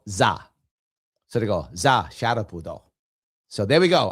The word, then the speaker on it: Sharpe: Sharpe would be the way you pronounce sharp. Sharpe.